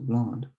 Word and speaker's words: blonde: You don't really pronounce the D in the masculine form of blonde, le blond, but then the E here in the feminine form, you'd pronounce it la blonde, so blonde. Then you have le brun and la brune.